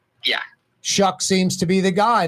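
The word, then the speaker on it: Shough: Shuck is how you pronounce his name. Yeah, Shuck seems to be the guy, the Louisville rookie, right? Yeah, I I would be shocked if it's not Tyler Shock.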